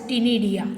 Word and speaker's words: ctenidia: Only for your information, we can go through is also called as ctenidia. C is silent.